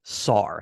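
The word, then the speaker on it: שַׂר: so the the Hebrew noun is the word SAR that's how You' pronounce it okay we actually have a modern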